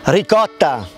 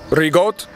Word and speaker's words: ricotta: Ricotta. Rigot? Ricotta. Rigot. No, ricotta. No, rigot. No, rigot no.